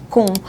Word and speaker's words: Kühn: Hoje nós vamos conversar com Roger Kuhn, ou Kim, como você preferir, porque o nome é alemão, então a gente já sabe que é mais complicado de falar, né, Roger?